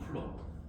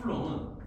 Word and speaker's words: 쿨롱: 전기의 성질, 전하, Q라고 쓰고 보통 단위는 쿨럼. 얘는 플러스 아니면 마이너스야. 플러스 아니면 마이너스야. 참고로 플러스 1 쿨롱이라고 읽어. 쿨롱. 플러스 1 쿨롱은 그냥 이거는 시험에 안 나와.